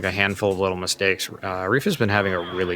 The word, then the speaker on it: Ref: We do sometimes use both Reef and Ref. I believe Reef is how he likes it pronounced, so that's why I've been using that.